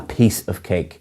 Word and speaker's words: piece of cake: them properly and again the pronunciation is a piece of cake you're stressing peace rather than cake next is a very